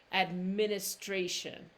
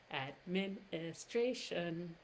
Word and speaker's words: administration: ra and then tion-tion-tion you don't get any t sound with that tion Shu and like I'm